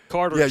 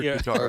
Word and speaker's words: Qatar: Some people say, Qatar and like it's Carter sauce. You hear guitar.